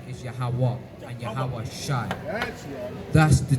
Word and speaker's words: Yahawah: that's what we misc combobulate sometimes but it's yahawah and yahawashi try to say it because I've